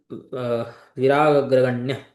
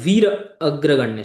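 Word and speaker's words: वीराग्रगण्य: बोलते हैं अतिरथे विराग विराग्रगण्य शायद कुछ स्पेलिंग मिस्टेक हुई है अच्छा वीर अग्रगण्य सॉरी प्रोनाउंस करने में गलती हो गई थी वीर अग्रगण्य वीर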